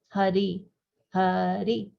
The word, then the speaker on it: Hari: Pronounced in 2 syllables. Hari, Hari, Hari, Hari.